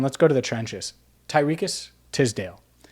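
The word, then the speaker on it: Tariqious Tisdale: go to the trenches tyriques tisdale and that's exactly how you say his name for those wondering even though it doesn't look like it the ole miss product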